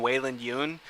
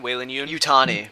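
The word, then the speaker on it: Weyland-Yutani: into the story and they're uh tying in weyland yoon is that how you pronounce it whalen young weyland yutani weyland yutani waylon yutani oh my bad uh the corporation behind uh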